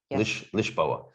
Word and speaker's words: Lisboa: in lisbon yeah or lisboa yeah they call it lisboa actually lishboa oh so their uh